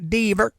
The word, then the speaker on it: Deaver: What that means is that if the legislature approves the latest proposal from Senator Dick Deaver, rhymes with lever, North Dakota could see